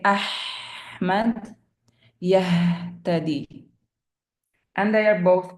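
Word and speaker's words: أحمد: Ha as in Muhammad Ahmad, usually wrongly pronounced as Muhammad, Ahmad.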